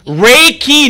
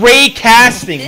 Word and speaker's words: Reiki: Reiki, not ray casting. What the hell are you talking about? Holy shit, do we have to spell it out to you? Oh, Reiki! No. Two syllables!